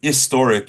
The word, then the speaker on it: historic: right all historic but if you say historic and you don't say the H you could say an historic event but historic is not really a word we use right we say historic with an H so a historic event